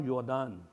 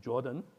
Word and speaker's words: Jordan: electron and then Pascal yordan yordan or As Americans pronounced it Jordan uh convinced the dur